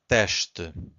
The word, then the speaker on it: teste: So again, S before a consonant, it's a sh. Two syllables here, we have to stress the first one, so it's teste. So we stress this one, and the second one is weak.